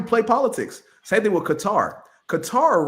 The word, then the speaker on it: Qatar: Let's pronounce it as Qatar.